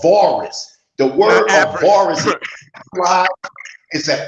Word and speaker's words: Avaris: And then he mispronounces the name. It's called Avaris.